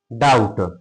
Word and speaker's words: doubt: Silent. ऐसे term T ओ एम B term है ना डाउट डी ओ यू बी टी ये क्या है